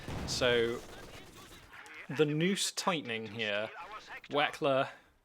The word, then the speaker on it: Wechsler: the noose tightening here Wechsler I like that almost rhymes with flexing every time I'm like rekkles as flexing waxey flex its like I really want that to rhyme but it doesn't but yeah wykel is